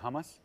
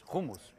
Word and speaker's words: hummus: People here say hummus. Yeah. But it's humumus, right? And she hates that I speak English and then all of a sudden I bust out humumus.